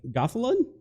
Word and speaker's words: Gothalion: head before the stream, but it's like Gothalon is a popular Destiny streamer. It looks like Gothalion, but he's a popular Destiny streamer.